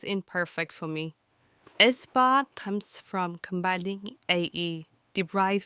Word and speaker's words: aespa: It sounds good and rhymes with spa, like aespa.